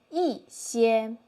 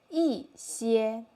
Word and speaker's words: 一些: I would like to say 一些一些 Fourth tone there.